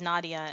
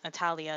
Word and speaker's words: Nadia: nadia nadia is cert i wanted to make sure that it was nadia and not natalia and i was mispronouncing it it's nadia nadia does nadia besides the